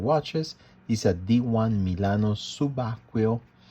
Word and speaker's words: Subacqueo: typical of diving watches is a d1 milano subaquil it's called subaquio it is pronounced subaquil in italian which mean um diver if we